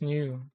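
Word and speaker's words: ν: Do they call it new or V? V is a Greek symbol, but it's pronounced new.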